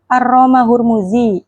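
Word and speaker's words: الرامهرمزي: Abdurahman bin Khalad Asyahir Aromahurmudzi Imam Aramahur Muzi Bifathil Mim kan bifathil mim arro wadomul ha arroom hu hurukunir ro assaniah bidamil mim asaniyah Jadi dibacanya aromahur mudzi fainnahu aal manfa istilah hadal fan.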